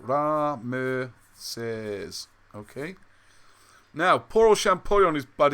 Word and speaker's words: Ramesses: And then you read the first part, that's how you say it, Ramasses.